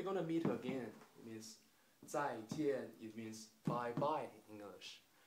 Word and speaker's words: 再见: It's 再见. It means we're gonna meet again. It means 再见.